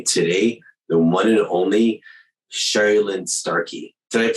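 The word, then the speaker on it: Sherrilynne Starkey: have with me today the one and only Cheryl Lynn Starkey did I pronounce your name correctly you did indeed gold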